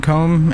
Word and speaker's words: comb: Sometimes people pronounce the B in comb and it's very annoying to hear.